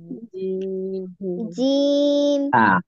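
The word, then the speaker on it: ج: ওরকম করতে যাবে সিম্পল আমরা মুখ যখন বন্ধ করে রাখি তখন কি অবস্থায় হয় জিহ্বাটা অটোমেটিক লেগে থাকে তাই না ওই অবস্থায় উচ্চারণ করতে হবে জিম ওকে তাহলে সবাই একসাথে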